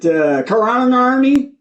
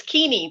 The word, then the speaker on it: Keeney: Is it Karanarni? No, Keeney? That's correct. It rhymes with army. No, it's Keeney, like teeny weeny.